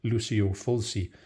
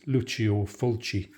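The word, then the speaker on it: Lucio Fulci: Fulcy because when I first heard about him, Lucio Fulcy, that was the way his name was explained to me. But I know he's properly pronounced as Luchio Fulchi.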